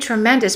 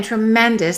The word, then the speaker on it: tremendous: You've made tremendous progress in your English. Let's connect your and English. Your English. And once again, tremendous. The second syllable is stressed, but the OUS is reduced.